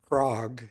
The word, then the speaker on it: Craig: Next person on the list is Craig. My name is actually pronounced Krog. It's a Scandinavian name, but I'm not.